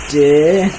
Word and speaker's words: Dih: It's pronounced Dih, which is pronounced did without the final D, and him without the M, and combined to be Dih.